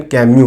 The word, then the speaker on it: Camus: अब मैं आपको बता दूं, एल्बर्ट कामू के नाम की स्पेलिंग CAMUS है, लेकिन इसका प्रोनाउंसिएशन कामू है, क्योंकि इसका S साइलेंट है और फ्रेंच में इसका प्रोनाउंसिएशन कैम्यू है।